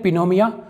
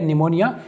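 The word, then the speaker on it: pneumonia: अगला है दोस्तों न्यूमोनिया अब इसे कई लोग इसे अजीब तरह से पढ़ते हैं पिनोम ऐसा कुछ नहीं दोस्तों यह है निमोनिया इसका मतलब होता है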